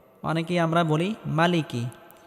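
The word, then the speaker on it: مَالِكِ: রাহিম আর রহমানির রাহিম মালিকি ইয়াউমিদ্দিন মালিকিউমিদ্দিন এক আলিফ টেনে পড়তে হবে অনেকে আমরা বলি মালিকি এক আলিফ টেনে পড়তে হবে মালিকিউমিদ্দিন মালিকিউমিদ্দিন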